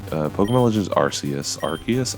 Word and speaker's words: Arceus: uh pokemon legends rcs arceus i say rcs i'm sorry i don't like the hard c let's go over here